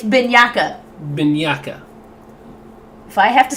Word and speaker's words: Bianca: Pronounce the name correctly. It's Bianca.